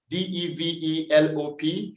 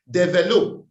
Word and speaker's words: develop: particular speaker struggled with the correct pronunciation of the verb d-e-v-e-l-o-p it is not developed it is develop develop develop back to commendations i'd